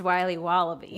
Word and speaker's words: Wiley Wallaby: Wiley's wallabies wallaby Wally's will be wobba beats pronounced Wiley wallaby well it's very good it's called Wiley wallaby